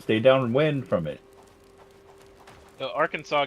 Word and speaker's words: Arkansas: Arkansas gets it pronunciation from the French.